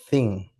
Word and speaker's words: Zin: Recuerden, no confundamos el primer desierto sin con el desierto de Thin.